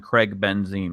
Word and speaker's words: Craig Benzine: and also I'm not I'm not greg benson i'm craig benzine we look at that clear make that confusion yeah there's they're spelled completely differently and pronounced differently and you look different